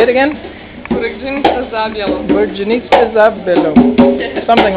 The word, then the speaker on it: Burekdzinica Zabjelo: How do you pronounce the name of this place? Burekdzinica Zabjelo. Say it again. Burekdzinica Zabjelo.